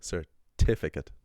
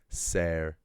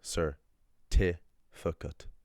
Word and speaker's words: certificate: Usually what I'm going to do because the sir, the f, and the cat are unstressed, I'm just going to leave a schwah there so it's easier for me to pronounce. And I'll say sir tukut.